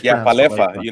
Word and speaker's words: Falefa: So I think of English Falefa, but like in Spanish Falefa. So I'm that's actually the way it's pronounced. It is Falefa.